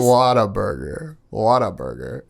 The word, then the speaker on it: Whataburger: I think Whataburger is up there. I always say it wrong. And now Blake is upset. Whataburger, by the way, guys. Whataburger.